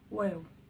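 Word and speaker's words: واو: The letter waw, waw, waw. It is like the letter W in English.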